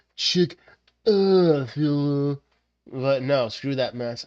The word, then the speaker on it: Chick-fil-A: So I pronounce it this way, chickfeller. Yeah, Chickfila. I mean, the proper the pro the proper pronunciation of this one restaurant is Chickilla.